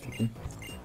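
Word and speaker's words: Phiphi: Mais ça se prononce Pipi. Parce que, non merci.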